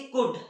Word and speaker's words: could: हैं क्या आप लोग, COULD, क्या पढ़ते हैं इसे, कुड, ना कि कुल्ड।